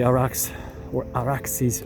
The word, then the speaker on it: Arax: Arax, right by the Araxes River, using the Persian, Akkadian, Sumerian pronunciation. It's Arax, but the derivation is much more ancient.